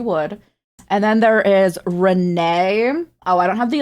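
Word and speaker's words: Renne: There is Ren, who came first, pronounced like Ren, as you would. And then there is Renee.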